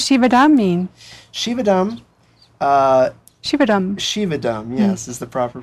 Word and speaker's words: Shivadam: and what does shivadam mean shivadam uh shivadam shivadam yes is the proper pronunciation and uh it literally means well-being prosperity